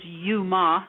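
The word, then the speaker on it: Youma: That's spelled Yo U. That is my entire legal name. And my nickname is Yuma.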